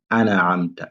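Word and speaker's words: أَنْعَمْتَ: Là aussi, souvent les élèves ils disent an'amta. C'est pas an'amta. Mais le noun, il faut bien prononcer le noun.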